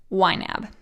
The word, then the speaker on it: YNAB: its acronym are the letters ynab that is pronounced ynab so if you hear me say ynab it's the budgeting software you need a budget